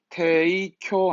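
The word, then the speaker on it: 提供: 그래서 10% 할인으로 제공, 발음 잊지 말고 테이쿄 하죠.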